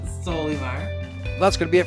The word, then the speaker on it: Solymar: Yeah, or the Barcelo Notice I said it right that time. Solimar.